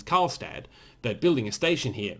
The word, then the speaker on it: Karlstad: build a station in I mean I can pronounce it it's karlstad but building a station here whole different kettle